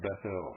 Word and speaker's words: Bethel: and consecrated it to god this should be pronounced bethel opposed which when solomon hit bounds no doubt